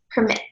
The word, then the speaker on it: permit: also a verb and when this word is a verb it is pronounced permit to allow someone to